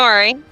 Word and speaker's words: Ari: I'm Ari. What's that? I'm Ari. Hi. Hello.